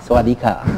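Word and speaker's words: สวัสดีค่ะ: Sawadika.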